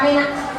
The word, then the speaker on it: Menak: Bacanya Menak apa Menak? Menak.